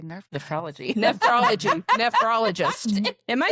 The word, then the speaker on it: nephrologist: Nephrologist. Am I saying it right? Yeah, you did. She said it funny. nephrologist. Anyway, I said nerfologist. Like I was like Nerf gun.